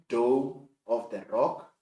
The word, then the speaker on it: Dome of the Rock: so it should be spelled as I have pronounced or announced this afternoon it is doome of the rock the second one it's Wailing Wall and if